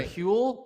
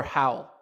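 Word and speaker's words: Hywel: differently all the time it's either huell or howell and yeah and i've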